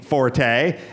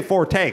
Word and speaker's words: forte: they named their team Forte and we we were talking about you know the names and things like that and before that and Pen Gillette was saying it's pronounced Fort you don't say Forte cuz I said forte